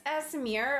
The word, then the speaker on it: Aasimar: Actually, it's Aasimar, I believe is technically how you say it.